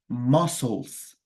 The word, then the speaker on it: muscles: are really sore my muscles are really sore muscles muscles muscles muscles muscles it's like the letter c we kind of do not pronounce it right so muscles well it's a